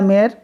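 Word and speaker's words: de la Mare: Walter डी ला मारे। तो Walter डी ला मेयर, ठीक है, इसको मारे भी लोग पढ़ते हैं, है ना, ऐसे, लेकिन मेयर इसका सही प्रोनाउंसिएशन होना चाहिए।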